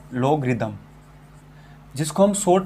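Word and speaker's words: logarithm: देखिए स्पेलिंग पे ना जाए, लोगरिदम, जिसको हम शॉर्ट में बोलते हैं लोग।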